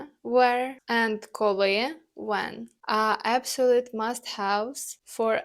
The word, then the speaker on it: коли: For that you'll need коли, which means when. The pronunciation is коли. The stress is on the second syllable.